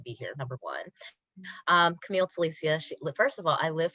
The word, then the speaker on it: Camille Telicia: very excited to be here number one um camille telisia first of all i live for people saying